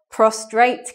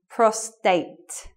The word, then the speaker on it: prostate: get prostate cancer but many people say talk about prostrate cancer they put the R in there because they're confused so yeah this one just remember is associated with men and it's a medical word and there's no R so it should be